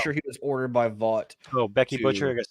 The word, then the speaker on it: Vought: He answers to Vought. That's the company that owns his image, basically. The G is silent. Not when we say it, though.